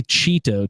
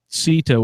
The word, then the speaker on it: Cito: I always want to say Cheeto too. I don't know why. I know it's Cito with like sort of a soft C or something, but yeah.